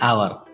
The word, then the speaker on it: hour: An ant, an enemy, an ice cream, an orange, an umbrella, an hour. Notice the word hour. As H is silent here, hour starts with a vowel sound.